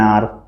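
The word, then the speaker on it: hour: जैसे एन आर, H silent, आर पढ़ते हैं हम।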